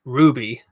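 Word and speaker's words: RWBY: do you hear that it's apparently an American anime style series and it's pronounced Ruby I really want to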